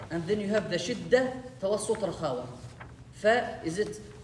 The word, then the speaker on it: شدة: No, shidda is like a shadda, right? Pronounced twice. شدة, not a shadda. We studied that quality. Yeah. And we spoke about it. Shadda is different. Shadda is different. It has two letters. Shidda with the kasra, it's a quality.